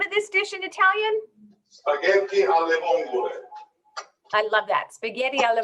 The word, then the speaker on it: spaghetti alle vongole: So how do you pronounce the name of this dish in Italian? Spaghetti alle vongole.